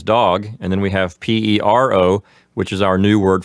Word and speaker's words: pero: It only has one R, so the roll sound is not as strong and not as long. So pero or perro. Now, when you say pero, P-E-R-O, it sounds like your tongue is only flapping against the roof of your mouth one time, almost like a D sound, like pero.